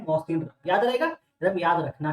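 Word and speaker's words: Mawsynram: इसके बाद highest rainfall, तो इसको हम ऐसा पढ़ेंगे मौसिनराम, इसका प्रोनाउंसिएशन यही है मौसिनराम, जो कि मेघालय, मेघालय में तो बोला जाता है कि मेघालय में बहुत ज्यादा बारिश होती है।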